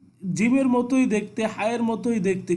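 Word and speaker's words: ج: এই জিম খুব শক্তভাবে জিমটাকে আপনাকে উচ্চারণ করতে হবে।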